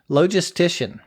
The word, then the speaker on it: logistician: A professional working in the field of logistics management is called a logistician. That sounds kind of funny, but that's actually how you pronounce it.